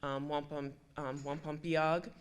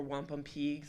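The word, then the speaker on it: wampumpeag: Wampum piag, or wampum peag, some people pronounce it differently, is the beads that are made from the shell.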